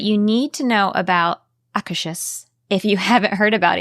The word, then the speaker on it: Akershus: I'm laughing because I did look up the pronunciation for this one, and it is indeed, it's like Akershus.